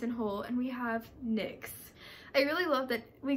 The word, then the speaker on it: Nyx: Like, there's no other way to pronounce N-Y-X, is there? If I'm wrong, like, it's Nyx, I'm pretty sure. If it's like Nye or something, I'm gonna be so mad, but it's Nyx, I'm sure.